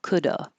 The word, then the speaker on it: coulda: make it an uh it's usually spelled with an A but it really is an uh like awah Coulda I could have had